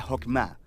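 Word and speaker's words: חכמה: hacemos que es esta fuerza en hebreo se pronuncia jopma y usualmente se traduce al español como sabiduría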